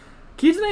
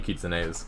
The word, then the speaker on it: Kitsune: The other pronunciation is Kitsune. I would be willing to believe that like an American looking at that word would guess Kitsune, especially if you don't